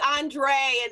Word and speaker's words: Andrea: andre you know yeah there is andre and then it's andre well i pronounce it andrea so it's funny my